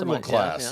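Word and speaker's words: Purrgil: Is it pronounced Purgle class? Purgle class.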